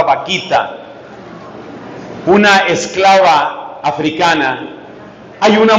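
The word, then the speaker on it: Bakhita: tengo dos ejemplos hay una Santa que se escribe con b grande pero la pronunciación suena chistosa la Santa vaquita una esclava africana hay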